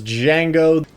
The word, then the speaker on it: Django: Much like the titular character of Quentin Tarantino's Django, the D is silent. You might be wondering, why